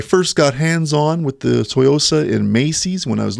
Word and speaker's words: Tsuyosa: Yeah, is the S silent? I think the S is silent. I first got hands-on with the TSUYOSA in Macy's when I was looking around.